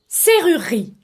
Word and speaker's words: serrurerie: أول كلمة Serrurerie. لاحظون أصدقائي أن الكلمة تتكون من 4 مقاطع صوتية لكنها تتكون فقط من 3 مقاطع صوتية. المقطع الأول عبارة عن حرفين S E ينطق سي comme le mot serré.